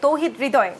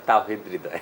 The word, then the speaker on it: তাওহীদ হৃদয়: আমরা বারবার যাকে নিয়ে কথা বলছি আমাদের আজকে তৌহিদ হৃদয় যিনি সবার হৃদয় জয় করেছেন তৌহিদ হৃদয় কিন্তু জেসি আমার নাম তাওহীদ হৃদয় ও আচ্ছা ও আচ্ছা দক্ষিণ দক্ষিতা আমার এখানে